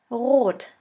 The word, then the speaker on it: rot: And the German word with the letter R is rot. Rot, which means red. S. S is pronounced like the sun.